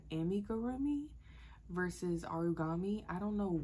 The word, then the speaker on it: amigurumi: origami I don't know why I kept calling it origami in the video tell me I have an uncultured swine without telling me I'm an uncultured swine okay um but I do apologize about mispronouncing that I do believe it is called amigurumi I did get into